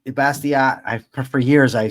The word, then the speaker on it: Bastiat: Frederick Bastier Bastia. I for years I pronounced it bastier because I I figured with